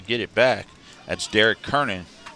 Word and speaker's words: Kernan: That's Derek Kernan. How you say his name, Kieran? Kern. So we'll take out the I, just Kern.